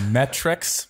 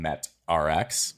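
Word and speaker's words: MET-Rx: no a uh metrics which i only really recently realized that they were pronounced metrics because i used to call them met rx but i think everybody does right yeah yeah they're it's like it doesn't naturally because it doesn't look like metrics to me so i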